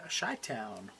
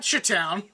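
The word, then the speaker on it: Chi-Town: to Chicago for something shy Town what shy Town shy Town that's what it's called that's weird it's spelled chip sorry yeah chai Town chai Town what they call them CH it's not chit toown just sounds like a stutter Town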